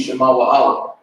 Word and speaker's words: Shema Wa'ala: And the pronunciation is going to be Shema Wa'ala.